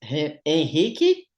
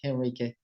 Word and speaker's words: Henrique: Oh, look, if I want to be very specific, it's Henrique, but I know it's very difficult for English-speaking people to pronounce that, so I'm fine with Henrique.